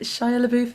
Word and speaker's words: Shia LaBeouf: And it was like in quite an early scene, and is it Shia LaBeouf? Is that how you pronounce his name?